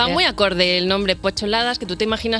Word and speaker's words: P8ladas: Porque es Pocholadas, se escribe una P, un 8 y ladas. Sí. Y estaba diciendo que yo que te sigo desde hace tiempo, en mi cerebro, yo pensaba Pocholadas. Pensabas que era peladas.